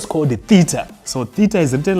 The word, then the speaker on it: theta: We read this as theta.